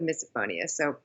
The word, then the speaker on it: misophonia: I have misophonia a lot of people call it misophonia so there is a lot of different pronunciations but I go with misophonia.